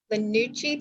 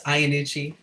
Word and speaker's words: Ianucci: Lanucci, please excuse me if I mispronounce. You are allowed to speak. Hi, everyone. It's Ianucci, close. So Lanucci. most people do not get it right on the first try, but thank you for having me today, everyone.